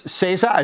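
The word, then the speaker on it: SZA: and uh you know it's cesa is that how you say her name scissor yeah and then uh weekend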